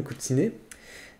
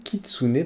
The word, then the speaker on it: Kitsune: Donc ici nous avons Kyubi no Kutsune. No Kitsune, pardon. Alors, attends que le.